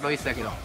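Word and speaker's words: Reus: 発音は「ロイス」です。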